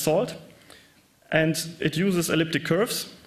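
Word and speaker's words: NaCl: uses a networking and cryptography lip pronounced salt and it uses elliptic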